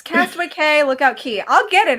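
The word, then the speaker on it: Castaway Cay: It's Castaway K. Lookout Key. I'll get it eventually. Yeah. Castaway Key. Castaway Key. Castaway Key. Lookout K. No, it's Castaway Key. Lookout K. Right? It's Key everywhere, I think.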